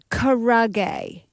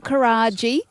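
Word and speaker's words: karaage: Chicken karage. That is the pronunciation. I never know. Chicken Is that what it is? karage. It's not karaji.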